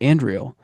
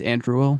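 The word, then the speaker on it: Andúril: the Shard of Narsil, reforged and renamed Andriel, which is Flame of the West. And I think I pronounced that wrong. It's Andruil, but same thing.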